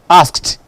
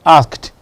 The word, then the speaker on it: asked: Whenever you have the past tense marker, ed, the one that you use to form your past tense, coming after a voiceless consonant, it is pronounced t. That's why it is asked, not asked.